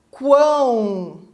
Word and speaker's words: quão: E agora os últimos 2 são nasais, na palavra quão, né? Então aqui eu pronuncio esse U, por isso que ele é um tritongo, né?